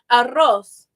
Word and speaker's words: arroz: If the R is in the beginning of the word or it's a double R, it's rosa, arroz.